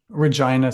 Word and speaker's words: Regina: And at age 8, you travel from, I might be mispronouncing it. Is it Regina? Regina, Saskatchewan.